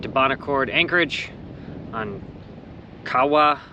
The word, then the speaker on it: Kawau: Bon Accord Anchorage on Kawa Island I think is how you pronounce it um we can't leave